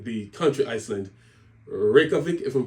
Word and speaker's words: Reykjavik: Reykjavik, if I'm pronouncing it correctly, is the capital and main city there.